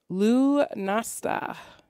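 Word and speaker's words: Lughnasadh: and this last one is really hard to pronounce so forgive me and i'm all allergy today so lu nasta l-u-g-h-n-a-s-a-d-h what does it celebrate and it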